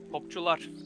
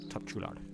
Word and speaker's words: Topçular: How do you pronounce that? Topçular. Topçular.